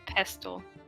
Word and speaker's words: pestle: don't let me okay it's a pestle the tea is silent don't lie to me